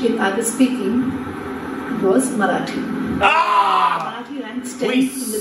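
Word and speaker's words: Marathi: two the language in I was speaking was marati marati ranks 10 in the list of the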